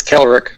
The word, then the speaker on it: Khalerick: It's Khalerick.